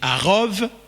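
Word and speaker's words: ערוב: Et pourtant, le même mot arabe, avec les mêmes lettres, quand c'est prononcé arov, ça veut dire l'insecte.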